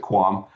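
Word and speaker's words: QAM: It's it's a lot of words, so we just use we pronounce it quam.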